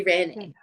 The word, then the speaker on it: Irene: Irene. Mm, Perfect. Perfect. Thanks for that. I could always add the little accent to help, but Irene, yeah. it's spelled like that in either language And of what cultural background, origin.